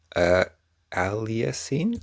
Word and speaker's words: aliasing: a passive feature, and aliasing, I need to look up how to say this word. Aliasing. Oh, duh, because it's the word alias.